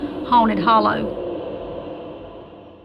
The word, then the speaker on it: Haunted Hollow: My mom was raised in a place in Georgia called Haunted Holler, which the correct pronunciation would be Haunted Hollow.